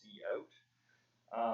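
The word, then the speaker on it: cout: using this command which is called c out pronounce c out um and you can write words to the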